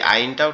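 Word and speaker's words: ع: তো এই আইনটাও ঠিক একই জায়গার থেকে উচ্চারিত হবে আইন, আইন, আইন, আইন, আইন, একটু গলা চেপে আওয়াজটা আসবে।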